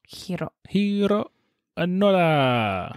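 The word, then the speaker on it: Hiroo Onoda: Heroo Onoda.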